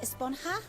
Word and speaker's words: Esponja: Actually, it's pronounced Esponja with an H sound at the end.